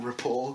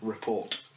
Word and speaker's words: rapport: We've got that rapport going. Rapport with silent T at the end. Yeah. Yeah. Report.